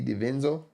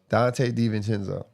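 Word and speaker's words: Donte DiVincenzo: Dante DiVincenzo. I always pronounce his name wrong. How you pronounce it? DiVincenzo. Dante DiVincenzo.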